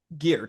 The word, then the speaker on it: Geert: but I didn't butcher so your name is gear that's how you say it yeah that's how you pronounce it and your your last name if